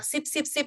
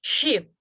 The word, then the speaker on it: sheep: But kambing itu will have this one, so you have to put H sound. So you have to pronounce it as sheep. Sh and S is different.